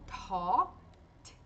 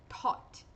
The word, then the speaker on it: taught: Então, ele vai ser mudo. E a gente vai pronunciar como, então? Só o T. Tzinho de parada. Então, o T de começo com mais ar, com aspiração. Taught. Taught.